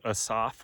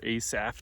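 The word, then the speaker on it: Asaph: So there's a few psalms all in a row here all by a guy named Assaf or Asaf depending on how you're pronouncing it.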